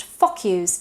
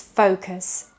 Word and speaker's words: focus: Or the word focus tends to be pronounced focus, but it's focus.